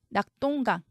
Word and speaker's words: 낙동강: 별 역시 비로 적습니다 낙동강 똥으로 소리 나지만 동으로 적습니다 합정 쩡으로 소리 나지만